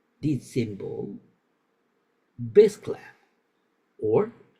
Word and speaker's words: bass: The bass clef, pronounced bass, is used for notes in the lower pitch range.